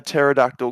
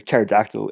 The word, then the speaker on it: pterodactyl: can't you hear a pterodactyl go to the bathroom because the p is silent ah yeah we're going that one yeah do we go there yeah that's right yeah 32 pterodactyl easy the winner thank